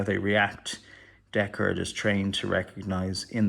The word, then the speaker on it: Deckard: so many reviews and people call them deckhard and annoys me it's deckard because in the movie is known as deckard i think it's a maybe a british way of pronouncing decorative deck hard so i'm going back to deckard for the rest of this review anyway so that's his